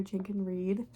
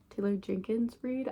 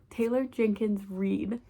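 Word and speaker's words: Taylor Jenkins Reid: number 22 we have malib Rising by Taylor tlor jenin Reed Taylor Jenkins Reed I always say her name wrong Taylor Jenkins Reed and um this is about so her books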